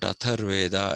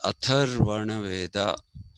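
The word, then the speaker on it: Atharvaveda: The fourth Veda, which is the Atharvana Veda, not Atharveda as people say, it is Atharvana Veda.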